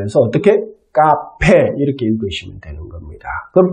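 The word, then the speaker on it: café: 이거는 발음을 어떻게 하죠? 네, 카페입니다. 카페. 그러니까 카페 이렇게 읽어주시면 돼요. C 같은 경우에는 보통들은 세로 발음을 하지만 이게 쌍기역으로 발음을 할 때는 모음 A, O, U 앞에서는 즉 카페 같은 경우에 CA가 있으니까 A 앞에 C가 있으니까 이거는 쌍기역으로 발음을 해서 어떻게?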